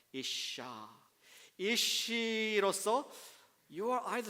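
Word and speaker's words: אִשָּׁה: 예, 그리고 그 여자는 isha. 같이 해주시죠. isha. ah가 붙습니다. 혹은 h가 붙는데 그냥 발음 편의상 a가 더 들어가는 거예요. isha.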